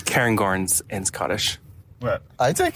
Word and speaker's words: Cairngorms: I say Cairngorms, but I'm not Scottish.